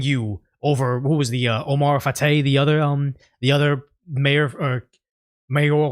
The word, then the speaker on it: Omar Fateh: I need more to stay consistent with supporting you over, who was the Omar Fateh, the other mayor or mayoral candidate?